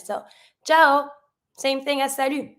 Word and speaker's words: salut: But we have salut. Salut, careful when you pronounce it. You don't pronounce the T.